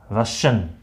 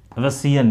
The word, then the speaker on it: Russian: जो प्रोनाउंसिएशन होता है, इसका प्रोनाउंसिएशन है रशियन। ठीक है, ये नहीं होता इसका प्रोनाउंसिएशन, ये रसियन, ये नहीं होता, रशियन।